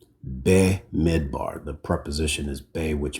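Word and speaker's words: Bamidbar: Bidbar is how you say that's the Hebrew name for uh the book of numbers. So it just means in the wilderness. Midbar. Be midbar.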